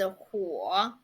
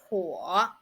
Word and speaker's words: 火: And the second one is 火.